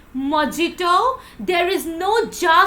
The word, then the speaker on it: mojito: pronounce it like mojito it is not mojito it is mojito so you always have to pronounce ha sound not ja sound I hope so you